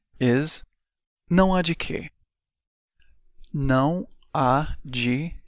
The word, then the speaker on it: de: it one more time G and yes the pronunciation is exactly like the English letter G this is followed by